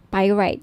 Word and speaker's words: pyrite: now if gusto niyo ng bracelet ito yyung pirate pyrite sorry pyrite yung iba pronunciation pirate pite Okay 1,980 may may kasamang